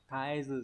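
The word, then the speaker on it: 絶えず: Shakai wa taezu henka shiteru. Xã hội ấy, nó đang biến đổi không ngừng, đúng không? Thì đọc là taezu sẽ là số 2, đúng nhỉ?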